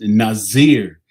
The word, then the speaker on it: nazir: Northeast African territory uh that's pronounced Nazir or in English is Nazerite and it means to be separate or separatist.